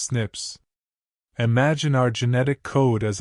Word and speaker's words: SNP: through what scientists call single nucleotide polymorphisms or SNPs pronounced snips.